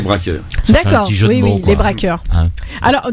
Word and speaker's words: Brascoeurs: donc nous parlait donc comme on dit brass coeur braqueurs ci alors breaker ça veut dire ça s'écrit b ras apostrophe coeur les braqueurs ça veut dire du coeur pour brassens mais on préfère dire les braqueurs d'accord jouer des braqueurs